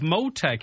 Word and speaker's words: Motech: Right, Karen Brown's co-founder of Motech. Is that the correct pronunciation of the company, Karen?